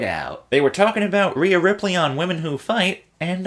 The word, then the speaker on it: Rhea Ripley: They were talking about Rhea Ripley on Women Who Fight, and I am pretty sure that MigD is going to be taking her on. Wonder what MigD thinks of Rhea Ripley, and if I can actually figure out a